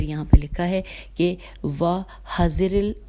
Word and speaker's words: وَحَذِرَ: لکھا ہے کہ وَحَذِرِ اس کی ہجے کر لیتے ہیں کیونکہ تھوڑا سا اس میں 1-2 زیر زبر پیش آدھے میٹے میں۔ وَحَذِرَ، ہاں جی، واو پہ فتح ہے، ہا کے اوپر فتح ہے، وَحَذِرَ الْإِقْلَالَ، ٹھیک ہے، یہ